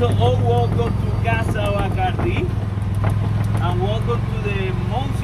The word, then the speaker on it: Bacardi: It's the D-I at the end. Exactly. Bacardi. The D-I is the strong.